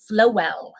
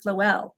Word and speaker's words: Floele: It is Floele. Did you already say that? Did I miss that? Floele. I love Floele. And he said, as in flow well, which is perfect.